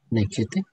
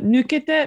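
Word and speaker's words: ぬけて: Nekete? No, nukete.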